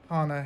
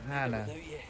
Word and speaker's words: Hana: a massive fan of Hana Hayes um yeah and I pronounce it like that because she pronounces it like that if anyone is uh thinking of correcting me to Hannah so yeah Hana but I find that